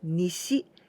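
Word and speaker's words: 西: means the East and this one here we pronounce se but in kuyomi this is Nishi it means the west and together we discardio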